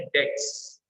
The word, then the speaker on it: debts: पहली बात, इधर भी बी साइलेंट रहता है, जैसे जैसे डेटर्स में बी साइलेंट रहता है, वैसे डेब्ट्स में बी साइलेंट रहता है अगेन. तो ठीक है, आप डेब्ट भी बोलेंगे तो चलेगा, अदरवाइज इसको एग्जैक्टली प्रोनाउंसिएशन है डेट्स. डेट्स.